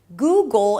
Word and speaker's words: Google: The next syllable is goal. A G sound, a schwa, and the dark L, which actually takes over the schwa. Goal. Just like with apple, Google is pronounced the same.